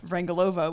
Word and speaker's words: Vrangalova: Shana who I was realized I had the accent on the wrong syllable on your wrinkle uh yeah wrangle over which is all Americans do it luckily nobody out